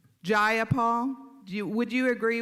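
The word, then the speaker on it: Jayapal: you agree with Miss ja Paul that there was no takeover it was just if you're gonna say my name please say it right it's jaia Paul jaia Paul do you would you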